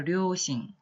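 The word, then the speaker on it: 両親: 발음해볼까요? 료싱.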